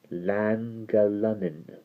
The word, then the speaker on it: Llangollen: hard G and the Y sound, so it's Llangollen.